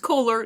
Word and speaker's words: Kolar: o l a r like polar or solar but with a K it's not like the faucet my life is this um also it's pronounced colar not colar not colar